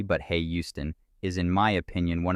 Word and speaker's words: Houston: the neighborhood south of Houston Street note that it is not pronounced like the Texan City but hey Houston is in my opinion